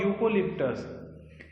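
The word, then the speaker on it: eucalyptus: क्योंकि ये जो है प्रोनाउंस, उच्चारण करने में यू की तरह हो रहा है।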